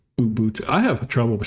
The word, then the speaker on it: Ubuntu: Debian, Open Seuss, CentOS, Stream, uh Fedora, and Umbu. Ubuntu. I have trouble with saying that word for some reason. I don't even know if I'm saying it right. Uh Ubuntu.